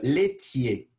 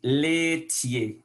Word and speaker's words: laitiers: Et on va continuer avec les produits laitiers. Souvenez que AI sonne E. Les laitiers, les produits laitiers, lactéos.